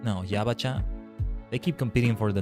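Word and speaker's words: ヤバチャ: Or Yabaicha? No, Yabacha.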